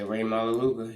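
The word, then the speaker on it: Rey Maualuga: Ray Maluga, I think it is. Yeah. Ray Maluga.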